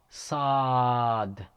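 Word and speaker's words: صاد: next letter is sa saad saad it's like your whistling huh see-saw or like saying saul paul saul sod is a heavy letter and it is pronounced from the tip of the tongue again from the tip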